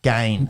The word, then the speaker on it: Gane: it and he's happy even if you were to rhyme it with bane gain serial gain that's how i was saying it so what's he got